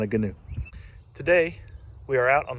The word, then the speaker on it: Gheenoe: It's a Gheenoe.